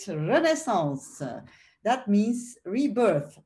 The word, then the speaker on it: Renaissance: that is French, so I will pronounce it a little bit differently than Diederik just did, Renaissance.